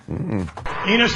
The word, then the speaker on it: Enos: Enos rhymes with Venus. Yes, it does. You thought I was going to say something else, right? That Enos was going to rhyme with genius, but we know you're